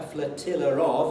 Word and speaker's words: flotilla: So the word flotilla, a little fleet, normally doesn't have any R at the end, but when I say a flotilla of, I always put in the R between flotilla and the word of.